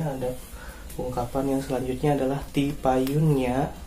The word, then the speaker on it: tipayunnya: Ya, kemudian yang selanjutnya ada ungkapan yang selanjutnya adalah tipayunnya. Tipayunnya artinya adalah duluan ya, namun ini digunakan untuk pada yang hormat ya.